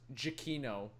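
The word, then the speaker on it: Giacchino: uh Michael ganik Chico I googled this it looks like it's pronounced Gino it's pronounced jakino jakino Shaquille O'Neal Michael Shaquille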